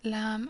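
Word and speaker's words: لام: Kaf and Lam are easy to pronounce, K as in kitten, Lam as in lamb, for example.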